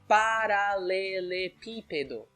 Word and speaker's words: paralelepípedo: I'm calling out some Brazilians now, and I'm going to say they pronounced cabeleireiro. That's wrong. Cabeleireiro. Correct. And the second word is paralelepípedo.